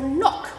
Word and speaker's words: knock: K is for knock. When we knock on a door, it starts with K, but it doesn't sound like it starts with K, does it?